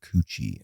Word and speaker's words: Kotu: Well, it's probably how it's pronounced in a proper world, but my whole family for generations have pronounced it coochie, and I'm known as coochie coochie.